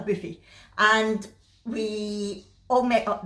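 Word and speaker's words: Boofi: a lovely buffet restaurant it's spelt b-o-o-f-i but it's a boofy and we all met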